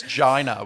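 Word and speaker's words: Ginda: in linebacker uh Frank Ginder sure first go I've buggered that up but at least I said it the same way twice Jack if fre can I believe it's Gina with a silent D actually oh that's good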